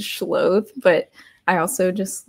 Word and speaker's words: Schloth: when people mispronounce it, some people have straight up just said Schloth, as, like, that's how they read it, and it's Schloth, but I also just like Schloths a lot and their energy.